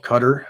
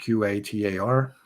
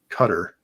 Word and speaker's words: Qatar: and a country called cutter and that's spelled q-a-t-a-r uh you know seems like it would be pronounced qatar but it's actually cutter yeah it was it